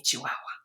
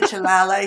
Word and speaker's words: chihuahua: sayala and his sisters his sisters cannot pronounce they say yeah you know he's a chiala he's a chilala he's he they get